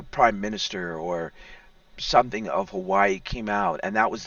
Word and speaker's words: Hawaii: And now our brothers and sisters in Hawaii, to say it correctly, Hawaii, are over there.